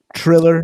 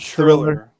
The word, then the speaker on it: Triller: Triller, not Thriller. Yeah, Triller, not the Michael Jackson song.